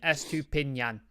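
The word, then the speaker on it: Estupiñán: Henry's helped me out with the pronunciation. Estupinan.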